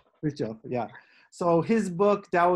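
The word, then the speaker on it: Fritjof: And did I pronounce his name right? Fritzhof, yeah.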